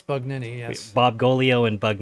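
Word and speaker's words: Bugnini: bug nin Ni is the correct way to pronounce it. Bug Nini. So So people It's Bug Nini.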